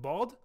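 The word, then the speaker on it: ض: He writes instead that bod is pronounced, quote, between the first part of the side of the tongue and the adjacent molars.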